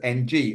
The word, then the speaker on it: Ng: he says his name's NG, and we were there going, oh no, but I had a Vietnamese friend who once told me the way to pronounce NG was Ung, but no one went with it.